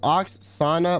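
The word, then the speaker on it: Oksana: it here even though you always say my name wrong it's Ox Sana by the way okay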